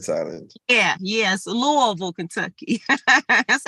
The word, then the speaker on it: Louisville: that that s be silent silence yeah yes Louisville Kentucky that's how we pronounce it uh in the Bahamas we say Louisville no all right Kimberly your rising sign